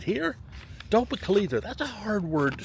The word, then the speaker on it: Tohopekaliga: Tohopekaliga, that's a hard word to say. Now, okay. If you know anything about phonics, the word is pronounced Tohopekaliga. Tohopekaliga.